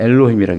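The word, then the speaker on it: אלהים: 엘로힘이라고 자음을 뜯어다가 붙였어요. 이렇게. 잘. 요게 에, 요게 오, 요게 이라는 뜻이에요. 그래서 엘로힘이라고 읽어라.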